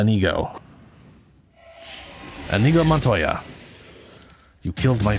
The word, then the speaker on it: Inigo: I I always want to say Inigo cuz that's that's how my brain wants to pronounce it. But it's uh Anigo.